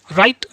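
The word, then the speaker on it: right: Next है जब किसी वर्ड में आई के बाद जी एच टी आए तब भी आई को आई से पढ़ते हैं, और एच टी में आया जी एच हमेशा साइलेंट होता है, जैसे फाइट, लाइट, राइट, नाइट, इस तरीके से।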